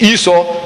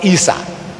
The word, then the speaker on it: Esau: sounding similar isau Isa he said this Esau not isau I'm asking where do